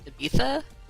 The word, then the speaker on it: Ibiza: I have to say, I think it's pronounced Ibiza.